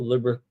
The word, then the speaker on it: Liberatore: Going up against Liberatore here, not Liberator. There, I guess that's how you spell it, but there we go. Liberatore.